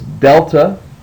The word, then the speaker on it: delta: your next letter is Delta as the D and dog and so it would be pronounced as du just like a D in English du Delta then you have a